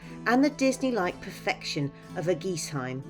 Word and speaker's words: Eguisheim: the disney-like Perfection of a geese Heim apparently that's how you say it some of the not